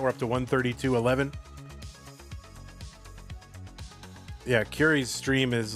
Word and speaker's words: Curi: These are both players whose names I've mispronounced in the past. Curi, because he's got the underscore, and I used to say C Yuri, but it is Curi.